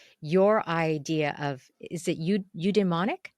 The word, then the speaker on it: eudaimonic: of happiness with your idea of, is it eudaimonic? How do you Mm-hmm.